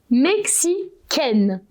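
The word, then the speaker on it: mexicaine: pronounce it Mexican okay for the men you will say Mexican and for the women you will say Mexican to to hear the difference okay I know I'm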